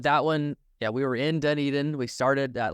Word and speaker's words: Dunedin: Let's just use the most recent one, Dunedin. Is that how you pronounce it? Dunedin, yeah.